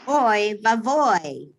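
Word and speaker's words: אוי ואבוי: When there is an O vowel, the cholam vowel, followed by a yud, end of the word is pronounced oi, oi, as in the word boy, boy.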